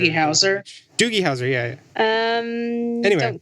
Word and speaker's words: Doogie Howser: I'm not sure how you pronounce Doogie Howser. DOOGIEHOWSER. It's like Bowser. Doogie Howser?